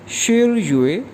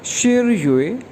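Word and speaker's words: 十月: और अक्टूबर 10वां महीना है, तो अक्टूबर को चाइनीज़ में कहेंगे शिर युए। शिर हमने पढ़ा था 10 के लिए, तो 10वां महीना ये प्रोनाउंस किया जाएगा शिर युए, शिर युए।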